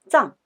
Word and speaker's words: 藏: This character has a second pronunciation, zang, which refers to treasures.